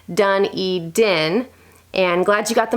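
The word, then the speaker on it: Dunedin: how you pronounce it we have one here New Zealand done e DIN and glad you got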